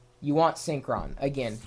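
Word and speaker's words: Synkron: day, a file, a program, a utility called Synchron, and you spell that S-Y-N-K-R-O-N.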